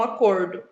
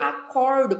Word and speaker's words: acordo: Então, percebam que a grafia é a mesma, só que a pronúncia, a sílaba tônica, acordo e acordo são diferentes, tá?